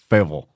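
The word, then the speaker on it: Fayetteville: me they like say faval fa fa you almost pronounce it like there's a D in it like f like we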